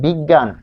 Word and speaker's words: বিজ্ঞ: তারপর মাঝখানে যদি থাকে যেমন বিজ্ঞান, বিজ্ঞান, বিজ্ঞান থাকলে কি হবে, বিজ্ঞান, দেখুন বিগ গান, বিজ্ঞান, তাহলে আমরা এখানে পাচ্ছি যে দেখুন এরকম উচ্চারণ হচ্ছে।